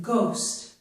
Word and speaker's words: ghost: Here's an example, the word ghost. We don't hear the H, but we do hear the G, and it makes a G sound.